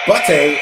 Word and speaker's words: butte: Butte is pronounced butte like a beauty. It's like a small mountain.